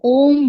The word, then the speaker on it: ओम: हां okay but breakup अगर आपको सही उच्चारण करना है ओम का तो अगर आपको बहुत बेनिफिट्स लेनी है ओम की तो अलग-अलग जगह से अ आ उ म करके ऐसे से बोलना है।